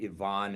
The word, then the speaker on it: Ivan: Ivonne. It's spelled like Ivan is pronounced Ivon, but Dr.